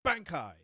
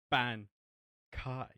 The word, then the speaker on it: Bankai: to repronunciate Bankai, because his pronunciation's always been Bankai, when the Japanese voice actor for Ichigo is like, no, it's Bankai.